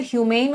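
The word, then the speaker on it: humane: दो शब्द होते हैं, एक होता है ह्यूमेन और एक होता है ह्यूमन। दोनों में डिफरेंस बताना। इन दोनों का पार्ट ऑफ स्पीच ही अलग अलग होता है, प्रोनाउंसिएशन भी अलग अलग होती है।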